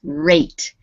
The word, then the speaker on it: rate: next one uh okay because there is a silent e on the end of this word it makes this a sound long so we say this as rate right rate right voices okay now